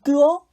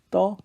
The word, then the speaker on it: 떠: 발음하면 어떻게 되죠? 눈을 뜨어? 아니죠. 눈을 떠.